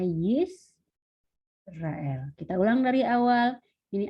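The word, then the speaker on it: ישראל: Dan yang terakhir ini ada shefa di bawah sin, bukan shin tapi sin, maka ini akan dibaca Yisrael. Oke, ini tanda titik 2 di sini itu berarti tanda titik. Gitu ya. Ini bacanya, saya ulangi, ini bacanya Yisrael.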